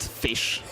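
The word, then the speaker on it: ghoti: uh which is if the gh in enough is pronounced f the o in women is pronounced e and the ti in nation is pronounced sh then goi is just pronounced fish and that is absolutely incredible.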